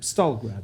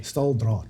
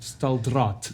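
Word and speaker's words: Staaldraad: No, the other thing I want to ask you, in 2003, did you do Camp Stalgrad? I did. Have I pronounced that correctly? Staldraad. Staldraad.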